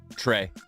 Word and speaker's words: TRA: What's the TRA? Trey. Okay. What'd you think, Quan? Well, it says TRA Yeah, on the thing, so it's like right. But I think it's pronounced Trey.